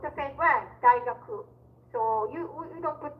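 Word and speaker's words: 大学: Oh, so you don't put the stress on ku.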